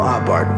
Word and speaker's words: Abarth: little bit about Carl abart by the way the H is silent according to theat he